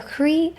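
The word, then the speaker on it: croí: The chree a chur amach ag goy-reh.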